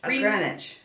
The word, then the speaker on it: Greenwich: New York Greenwich Village Greenwich Greenwich but it's called it's spelled green witch like Greenwich Greenwich Village